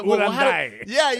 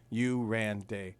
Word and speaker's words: Uranday: Most people really try to over pronunciate it. Like it's you, and it's just exactly how it's spelled. Uranday.